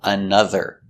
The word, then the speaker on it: another: Example, another. Again, the O pronounced another. So we have the sound two times.